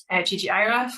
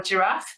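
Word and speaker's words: ggiraph: I quite like ggiraf or giraffe. People pronounce it differently.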